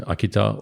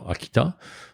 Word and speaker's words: Akita: stand out the most about um Akita and pronunciation Akita or Akita tomato tomato not aita but anyway is um